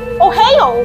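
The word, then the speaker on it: おはよう: oops I oh wait I don't think that's not the right Japanese pronunciation it's Ohio means hello in Japanese oh hey oh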